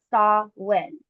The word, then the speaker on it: Samhain: Samhain, pronounced Saw-win, originated with the ancient Celtics and is celebrated on October 31st to November 1st.